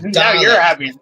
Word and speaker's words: Dalek: It's pronounced Dalek.